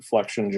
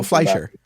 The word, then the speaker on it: Fleischer: And like the Max, what is it, Flexinger, or I can never pronounce his name, the cartoon. Oh, Fleischer.